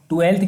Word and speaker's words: twelfth: 12th की जो spelling होती है वो होती है TWELFTH। एफ उनके माइंड में रहता है, एफ याद रखना, एफ हमेशा साइलेंट रहता है।